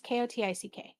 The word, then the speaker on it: Kotick: I don't know how to pronounce it. It's Kotick.